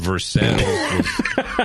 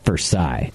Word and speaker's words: Versailles: Have the French influence, but they keep the pronunciation. But the Missourians were like, no. Sort of, yeah. I mean, we don't like them French. Yeah. No. You know, we like them enough to take their name, but not enough to pronounce it like they.